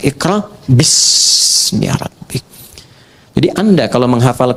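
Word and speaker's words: بسم: Itulah sebabnya ketika walaupun di sini ada alifnya, tetap dibacanya cepat dan pendek. Iqra bismi rabbik.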